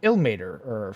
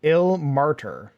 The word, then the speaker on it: Ilmater: Interesting me, but where do you get the pronunciation of Ilmater from? I tend to pronounce it Ilmartyr. Oh, Ilmartyr. Oh. I don't know. I probably didn't read the R. It's as simple as that.